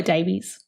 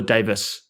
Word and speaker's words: Davies: because it's actually Fleur Davies. No, it's not. It's Fleur Davis. I will put $100 on this. They're the Davises. I know it looks like it should be pronounced Davies, but it's Davis.